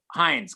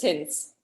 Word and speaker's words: Hinz: So, is it Hinz or Heinz? Because Heinz just comes out because of the ketchup. Yeah, it's not the ketchup, it's Hinz.